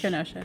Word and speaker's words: Kenosha: Kenosha or Kenosha? Kenosha.